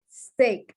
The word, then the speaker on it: steak: Both of them contain the EA, but steak, the EA is pronounced A.